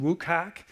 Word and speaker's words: WCAG: It's pronounced WCAG, the Web Content Accessibility Guidelines.